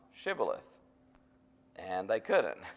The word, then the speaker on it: Shibboleth: And if he said no, then they would say, "Pronounce Shibboleth." And they couldn't. It's just kind of one of those accent type things. They would always say Sibboleth because they couldn't pronounce it right.